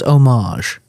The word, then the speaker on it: homage: I've heard both, but I'm pretty sure it's of French root, which is homage.